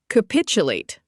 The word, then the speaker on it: capitulate: capitulate Pronounced ca-pit-u-late. It's a verb.